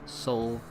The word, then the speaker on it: Seoul: Yeah, it's probably pronounced Seoul in English, but in Dutch it's pronounced Seoul. Like you really pronounce every single vowel in there, but in English it's probably pronounced more as Seoul.